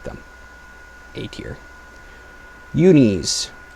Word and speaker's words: Uni: Unis. Technically, it's pronounced uni, but uni sounds infinitely better, so I'm going to say that.